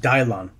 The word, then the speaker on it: Dillian: I believe it's pronounced Dylon. I guess Dylan works too, but Dylon.